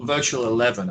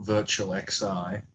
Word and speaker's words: Virtual XI: Well, Virtual 11 as it's pronounced, not Virtual XI is thus named because